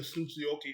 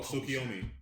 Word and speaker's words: Tsukiyomi: he wakes up from I forgot what the Tsuchiyoki, I can never pronounce it, I apologize. But basically the dream state that the tree was putting everybody in. Oh, Tsukiyomi.